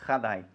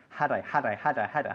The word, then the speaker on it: had I: structure we're looking at, is the importance of not pronouncing the had as if it began with a jota. Okay, it's not had I. Okay, had I.